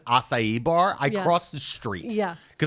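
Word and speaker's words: açaí: One of the reason why one of the reason why because I literally go, "What's a kai?" And you're like, "It's acai."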